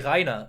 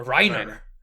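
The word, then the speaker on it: Reiner: names almost correctly like they managed to say reina instead of a rhino yeah yeah yeah which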